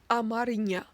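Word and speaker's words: አማርኛ: In Amharic, Amharic is pronounced and written as Amarinya, and the people who speak Amharic are known as Amhara, not Amhara.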